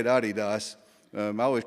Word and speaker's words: Adidas: you say it I didn't um they say Adidas um I always called it Adidas but I'm from Northeast Arkansas so what do